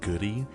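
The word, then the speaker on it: Goode: It's pronounced goodie.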